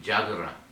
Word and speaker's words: Yagara: Murray people included the Yagara. The Yagara, they also pronounce it Jagara.